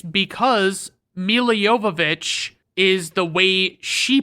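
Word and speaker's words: Milla Jovovich: I'll just say that it's because Mila Yovich is the way she pronounces it.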